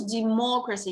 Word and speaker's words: democracy: So in English, democracy, you pronounce like more. No, what is it's a person? Democracy, it's a noun.